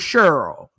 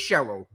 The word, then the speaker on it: Cheryl: that part too see I just learned the word cherl we don't have no cherls in New Orleans it's Cheryl okay Cheryl Cheryl all